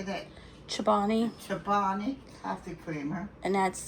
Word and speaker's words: Chobani: Chobani.